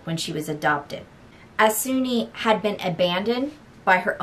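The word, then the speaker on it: Soon-Yi: and by the way it's e not ye by the way apparently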